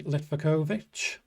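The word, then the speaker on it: Livaković: If I was on a wild card, I'd bring in Litvakovic.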